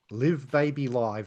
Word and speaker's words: Live Baby Live: Well, the very next year they put out this live album here, Live Baby Live. And that is how you pronounce it, boys and girls.